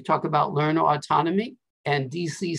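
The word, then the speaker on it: Deci: motivation one is edward dc it's pronounced like washington d.c and richard ryan and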